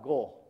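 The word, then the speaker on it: 碁: And one more important thing is, in Japan, the letter of this one, we only pronounce go, not ki or chi.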